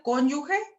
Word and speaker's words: cónyuge: la otra cónyuge supérstite así se pronuncia cónyuge es el cónyuge brand